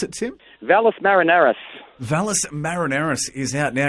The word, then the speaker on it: Valles Marineris: is out at the moment and the records Valeris minute Marineris is that our pronounce it to Valles Marineris Valles Marineris is out now it's absolutely cracking